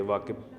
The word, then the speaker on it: Wakeb: जी बिल्कुल, ये वाकिब के नाम से है। ठीक है, स्पेलिंग क्या है?